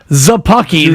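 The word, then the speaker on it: Szapucki: too ladies and gentlemen thomas zappaki the s is silent that's right what the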